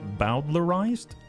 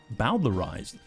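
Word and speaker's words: bowdlerized: Bowlerized. Bowslerized. A it's that like Bowser from Mario.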